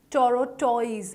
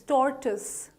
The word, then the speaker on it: tortoise: It's not tortoise, it's tortoise. Tortoise.